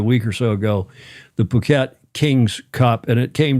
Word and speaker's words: Phuket: You see I pronounced that more carefully. Thank you very much. The Phuket.